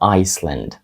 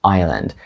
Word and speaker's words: Island: вимовити його Island Island тут є глухою літера S ми не кажемо isel Ми кажемо Island icel - це вже